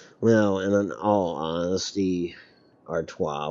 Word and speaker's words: Artois: Well, and in all honesty, Artois would probably be how you pronounce it no matter where you're from. It's just that I butchered it. Instead, I basically said Stella is Artois.